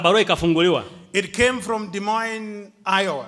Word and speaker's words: Des Moines: It came from Des Moines, Iowa. I hope I'm saying it properly. I learned it. Des Moines. It's a very difficult word to pronounce in my language. Des Moines, Iowa.